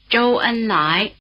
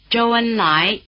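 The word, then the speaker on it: 周恩来: Lóu, Lóu, Lóu The diphthong "ou" is spelled OU, as in "Zhou Enlai", in Chinese: Zhōu Ēnlái, Zhōu Ēnlái Try repeating.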